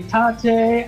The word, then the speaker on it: tate: You say tate, I say tate. But it's like rotate, so it's like Tate.